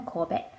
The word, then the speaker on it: Kobe: got this in Japan this one is from Kobe in Japan or Corbett I say it properly which was the closest